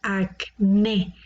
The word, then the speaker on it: acné: La palabra acné tiene la sílaba tónica en la última, acné. Por lo tanto, esta es una palabra aguda y la voy a poner en este lugar.